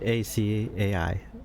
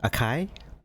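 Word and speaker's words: açaí: while to get like how do you pronounce this word a-c-a-i akai it's acai what if you can't think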